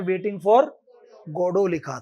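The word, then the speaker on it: Godot: गोडोट बोलते हैं आप उसको जी ओ डी ओ टी होता है स्पेलिंग। लेकिन क्या बोलते हैं उसको? गडो। गॉड से बना है।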